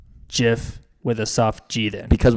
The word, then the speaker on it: GIF: the for our side jiff the the the creator of the jiff said he wants it to be pronounced like the peanutbutter jiff I don't know if